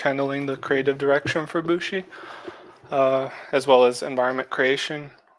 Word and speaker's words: Bushi: Bushi.